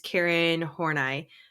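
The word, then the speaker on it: Karen Horney: she's from the 60s I think or 70s Karen horai is how you say her name um she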